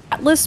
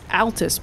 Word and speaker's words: Altus: i've never heard of i thought up until today that it was atlas plateau but it's altus plateau they do that to